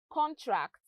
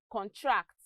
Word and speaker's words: contract: look at some examples we have words like contract which is a noun and contract which is a verb they are both spelt the same way but they have different pronunciations we also have the